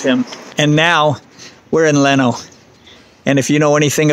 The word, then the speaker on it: Lenno: We are in Lenno, and we'll go maybe walk around Lenno a little bit and then make our way back to Varenna.